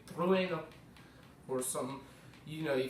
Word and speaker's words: Trueno: Not Truno, Trueno. It's a Japanese name, you're supposed to pronounce it as such.